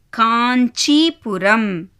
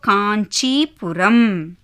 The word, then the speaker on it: காஞ்சிபுரம்: ஆனால் correct pronunciation என்ன? காஞ்சிபுரம். இன் அந்த சவுண்ட் வந்து அதில் வரணும். ஸோ காஞ்சிபுரம்.